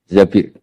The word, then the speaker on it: Zabir: di di hadis ini bukan bacanya bukan Zubair tapi Zabir Abdurrahman Bin Zabir tapi